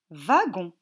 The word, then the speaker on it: wagon: à la première ligne le w se prononcent va gonds wagons à la deuxième ligne